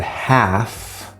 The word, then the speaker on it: half: cases where it's not so in the word half there's no L sound here but it's actually the AK sound this front sound here so that's an exception okay so there are